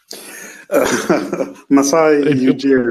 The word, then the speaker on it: Masai Ujiri: But go ahead, finish your point, Joel, and say the name again so I don't butcher it because I almost butchered it again. Masai Ujiri.